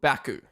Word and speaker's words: Baku: So, it's pronounced Azabaijan. Azeraijan. Uh, and the city is called Baku.